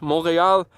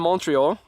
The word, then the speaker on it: Montreal: I was trying to mix up the English pronunciation and the French, Montreal and Montreal.